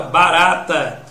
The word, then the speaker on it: barata: Se você observar, a palavra barata, quem é a sílaba tônica, olha, vamos separar a barata aqui, ó.